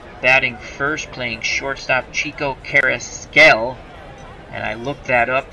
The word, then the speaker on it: Carrasquel: Batting first, playing shortstop, Chico Carrasquel. And I looked that up. That is the way to pronounce his name, Carrasquel. Which I will butcher that, but it's Carrasquel.